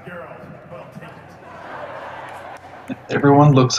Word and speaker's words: Geralt: Actually, it's pronounced Geralt.